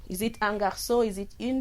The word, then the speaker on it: un: When we say un garçon, we don't have the e, so we pronounce it as un.